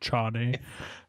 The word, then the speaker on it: Chane: It's pronounced Chane. It's Chane.